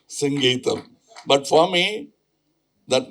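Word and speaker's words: Singeetham: to get very upset because say Mr. Sanangeam no it is singam please but after 40 years you have cleared it now nobody can Mr.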